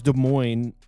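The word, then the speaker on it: Des Moines: Last time I tried to pronounce a name, everybody made fun of I'm pretty sure it's De Moines.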